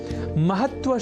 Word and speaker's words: महत्व: यहाँ हमने महत्व के उच्चारण और लेखन पर दिया है विशेष अवधान, अर्थात महत्व में जो 2 अर्ध तकार हैं उनके लेखन और उससे भी बढ़कर उनके उच्चारण पर ध्यान केंद्रित करें, तब हम आज की प्रवृत्ति के अनुसार किसी तरह की अशुद्धि नहीं करेंगे।